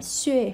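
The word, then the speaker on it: 血: Từ này, chữ này có hai âm đọc là xuè hoặc là xỉa nhé.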